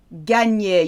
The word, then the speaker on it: gagner: Gagner, you know GN is a new.